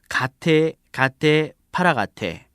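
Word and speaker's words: गते गते पारगते: 말을 적어 놓은 것인데 실제 인도 발음으로 하면 이렇습니다 가테 갓테 파라가테 파라가테 보디스 평소에 우리가 하는 것과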